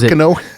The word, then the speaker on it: Carcano: Carcano? Yeah, that's what I've been told that it's properly pronounced, but I don't know. Carcano, that's what I always called it.